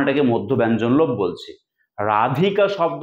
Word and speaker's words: রাধিকা: কাজেই রাধিকা থেকে রায় এই রাধিকা শব্দের ধ এর উপর যে শাসাঘাতটা পড়ছে এবং এই ধটা যখন অনুপস্থিত তখন এটাকে মধ্য ব্যঞ্জন লোভ বলছি। রাধিকা শব্দ উচ্চারণ করতে গেলে ধ এর উপর শাসাঘাত করে।